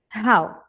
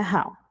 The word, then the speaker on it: how: Cuidado com esse how. Porque muitas pessoas podem acabar pronunciando como ho are doing, como que você tá? Então é how já o who também